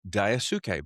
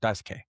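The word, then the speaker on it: Daisuke: So, literally like on social media, you would see people type out the word dice d i c e and then dash k because that's actually how you pronounce his first name. Dice K.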